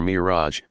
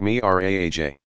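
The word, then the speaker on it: Mi'raj: spot nearby Muhammad began his ascension or Mirage pronounced me RA AJ for a time the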